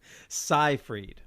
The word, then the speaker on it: Seyfried: Seyfried, like sci-fi.